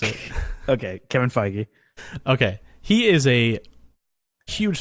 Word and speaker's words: Feige: with the name again I don't want to mispronounce it okay Kevin Feige okay he is a huge Star Wars fan